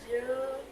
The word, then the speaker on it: je: Kalau misalnya nama kamu Claudia kan, berarti je m'appelle Claudia. Naomi, je m'appelle Naomi. Oh ya, kalau J ini, kalau penyebutan saya ini dibacanya je. Je m'appelle kayak biasa. E-nya nggak perlu dibaca.